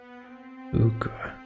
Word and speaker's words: Pugra: Pugra. Ah, that's how it's pronounced.